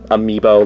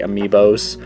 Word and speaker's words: Amiibo: I believe the technical correct way to say it is Amiibo, like plural. Like Amiibo is already plural. You don't have to say Amiibos, but I still do